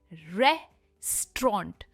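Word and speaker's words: restaurant: इसकी सही प्रोनंसिएशन है रे रेस्टोरेंट। रैप पर इसका स्ट्रेस है। हम रै पर स्ट्रेस देते हैं।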